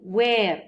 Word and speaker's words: were: في جزئيه الكونفرزيشن يتدرب الطالب على انه ينطق الوير والواز بشكل خفيف وسريع لا يشدد عليها. You were late for class. لا، you were late for class.